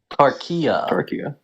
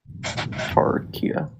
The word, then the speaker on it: Tarkia: Tarkia. Tarkia. Yeah, so There you go, Tarkia. you pronounced it right.